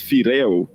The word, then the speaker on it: Freo: Freo Solomon is written as Freo, but it's pronounced as Fireo.